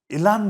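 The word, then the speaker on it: Elon: 또 하나 깜짝 놀랄 일 여러분들 뭐냐면 지금 트럼프 당선인의 이 총회가 일란 머스크가 있는데 네. 일론이라고 발음 안 합니다. 트럼프 당선인 일란이라고 합니다.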